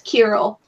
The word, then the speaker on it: Kirill: Yeah, that's Kirill. Yeah, that Kira, whatever, like they say his name. Yeah, like it looks like Krill, but it's not.